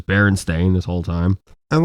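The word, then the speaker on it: Berenstain: I used to say Baronstein, but I feel like back then everybody said Baronstein. I feel like back then everybody just like mass mispronounced it. Yeah. Well, I mean, I'm not like, oh, Mandela effect. I'm just kind of like, oh, wow. I'm stupid for not realizing it was Baron Stain this whole time.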